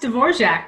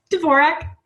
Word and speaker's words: Dvorak: you could have been though no actually it's pronounced Dvorak but I don't do that because I'm from California we make up our own names for everything oh how do you pronounce it Dvorak Dvorak okay same name different pronunciation and if